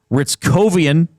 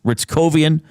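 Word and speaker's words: Hryckowian: Ritz Covian and that is spelled H R Y C K O W I A N. Ritz Kovian with Bach and Bourc.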